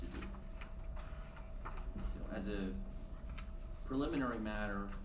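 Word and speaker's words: Diduch: For the record, Duduc of Katie Law, spelled, D-I-D-U-C-H, and pronounced Duduc.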